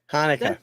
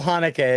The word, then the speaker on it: Hanukkah: do you say that Hanukkah like Chaka Khan it's still Hanukkah it's just felt differently Okay so it circle's